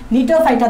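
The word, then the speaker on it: Gnetophyta: এটা হচ্ছে সব, দেখো জিটা উচ্চারণ করতেছি না, নিটোফাইটা উচ্চারণ করার সময় কি বলতেছি, নিটোফাইটা।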